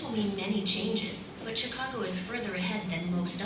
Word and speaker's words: Chicago: This word is pronounced as Chicago, right? Not Chicago, like the usual Asian how we speak.